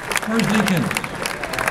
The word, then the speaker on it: Merzlikins: How about a nice hand for Thomas Larkin and Elvis Merzlikins. I pronounce that well?